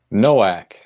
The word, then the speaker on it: Noack: today uh and how do you say your last name nowak nowak all right so yeah we have it right all right and man